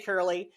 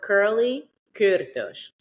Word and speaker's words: Kurly Kürtősh: so it's Kurly Kürtősh. Oh, I love it. We have to roll the R's, and we don't phonetically do that in the U.S., so it just becomes a challenge.